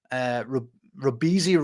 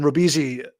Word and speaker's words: Robeisy: And then Robeisy, Robeisy, I think that's how you say it.